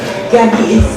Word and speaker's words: Gabi: So now I'd like to welcome Gabi, is the right way to pronounce it, with onset.